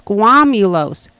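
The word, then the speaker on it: squamulous: I'm saying it wrong. It's squamulos.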